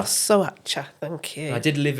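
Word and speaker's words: Șoșoacă: Right, you might have to help me with the pronunciation. I think it's Sosoacha. Sosoacha, thank you.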